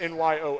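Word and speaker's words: Nyoo: Looks like a planet from Star Wars in Naboo, but it's just n y o o, Nyo.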